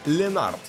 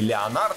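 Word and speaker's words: Leonard: Компанию Александру Овечкину составит Райан Ленард. И нет, он не Леонард, хотя его фамилия пишется именно так.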